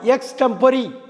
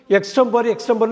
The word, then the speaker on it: extempore: பாருங்கள், EXTEMPORE, எக்ஸ்டெம்பரி. எக்ஸ்டெம்பர்னு சொல்லுவாங்க, சொல்லக்கூடாது, எக்ஸ்டெம்பரி, EXTEMPORE.